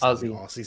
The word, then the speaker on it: Aussie: in the chat please pronounce Aussie as Ozzy it's Aussie say it what's Aussie